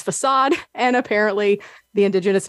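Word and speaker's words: façade: chauffer that is chauffeur facade that is facade and apparently the indigenous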